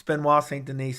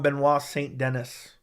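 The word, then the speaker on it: Benoît Saint-Denis: I've double triple checked it that's how you pronounce his name it's Ben W St Denise someone some people call him benois St Dennis it's benois St Den I like to see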